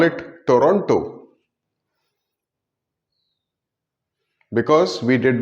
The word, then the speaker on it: Toronto: This T goes silent. This T doesn't matter and an H appears. Toronto. Toronto. Or even Toronto.